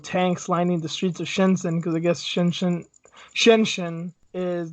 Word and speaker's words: Shenzhen: I will keep saying Shenzhen. I know it's pronounced Shenzhen, and I will try, but my tongue doesn't always work the way that I want it to.